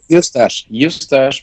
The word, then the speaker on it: Eustache: Yeah, Eustache, because it's like mustache with an E at the beginning. Eustache. Eustache. Eustache. Okay. It's a French name. So in French, it's Eustache.